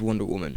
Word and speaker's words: Wonder Woman: Then there's Gal Gadot as Wonder Woman, and yes, I think I finally learned how to pronounce it.